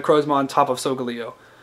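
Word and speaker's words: Solgaleo: on top of so Kaleo I know it's pronounced so delay oh but I prefer Leo because it makes more sense with lion leo anyway he looks more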